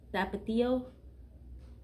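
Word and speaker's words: Tapatío: I actually have tapatio.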